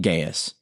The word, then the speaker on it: Gaius: In Jesse's episode on Third John, he noted that the letter is addressed to a man named Gaas or as some pronunciation uh guides have told me, Gaes.